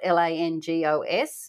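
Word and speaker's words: lángos: things that we wanted to try were called langos which is spelled l a n g o s but pronounced langos now Lang means flame right correct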